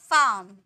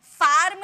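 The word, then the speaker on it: farm: में प्रोनाउंस करते हैं जैसे कि फार्म नहीं बोलेंगे फार्म नहीं फार्म फाम पार्क डाक हाम यान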